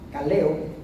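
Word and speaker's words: καλέω: también glorifico entonces lar es la palabra griega 2564 que se pronuncia caleo significa convidar invitar Llamar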